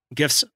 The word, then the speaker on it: GIFs: video on there and some like handy little gifts or jeff's depending how you say it the proper way is Jeff's I'm not gonna give